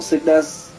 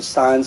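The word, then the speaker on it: Sens: on right on to signs or sickness as some people call it but it's actually signs because the e is silent and then this into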